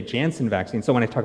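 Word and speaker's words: Janssen: jnj or the the the jansen or the yanson vaccine the german pronunciation i guess it's a different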